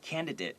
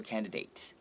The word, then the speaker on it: candidate: Right, so 参选人 candidate, 有些人会说 candidate. Okay, so it depends on where you're from. Some people will pronounce the A, some people won't, but they're both acceptable.